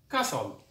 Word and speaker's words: castle: let's dive in um the letter t is silent in these common words examples castle a castle is a